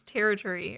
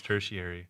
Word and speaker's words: tertiary: of the word is so not how I thought it was gonna be pronounced oh really I was reading my head as territory or something no yeah it's tertiary tertiary yeah so weird okay